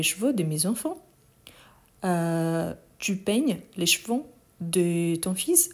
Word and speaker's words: peignes: Du coup, on a je peigne, tu peignes. N'oublie surtout pas le S à la fin, même si on ne le prononce pas.